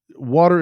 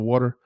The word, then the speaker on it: water: saying the word water water is spelled w a t r and my pronunciation of the T in that word sounds more like a d so if I say